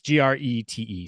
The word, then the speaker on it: Grete: How would you say her name? Grete? Y- Yeah, I was saying Gret. Gret. Okay. It's Grete.